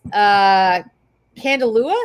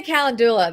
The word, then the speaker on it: calendula: So it's Candelua. No, that's not right. That's not right. No, I say you own it. You pronounce it how you want. Calendula. All right, I say calendula.